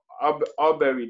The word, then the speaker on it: Arbery: When Ahmaud Arbery died, is that how you pronounce his last name?